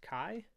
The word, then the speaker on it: chi: what that that fancy looking x is it's pronounced chi and it's going to be chi is equal